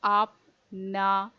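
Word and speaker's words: আপনারা: So I have used double A to make it clear that this is not a, this is a. So apnara.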